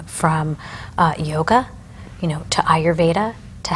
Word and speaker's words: Ayurveda: were um that you're such a specialist and ayurveda did i say it right you did beautifully